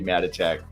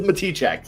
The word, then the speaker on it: Matichak: I've been calling you Andy Matichak for years, and I'm so sorry. Me too. You know, it is Matichak.